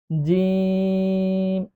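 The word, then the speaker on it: جيم: এরপরে যে অক্ষরটি আছে সেটি হল জিম। এ অক্ষরটি উচ্চারণ করার সময় তিন আলিফ টান দিয়ে পড়তে হবে। জিম।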